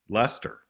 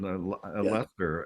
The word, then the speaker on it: Leicester: And I passed a sign that said Leicester, but it was like, as many interviewers have said, what gave you the idea for the Earls of Leicester?